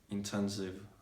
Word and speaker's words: intensive: Intensive, positive. In all these cases, you need to pronounce like the V as a V.